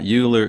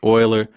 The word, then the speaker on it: Euler: Some people by the way will correct you will correct me and say that this is not Uler it's Oiler. However due to the spelling of it I'm going to be be pronouncing it Uler.